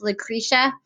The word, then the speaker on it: Lucretia: about women's rights and yesterday I said a name wrong and I just want to apologize it's Lucretia I think I turned the page because we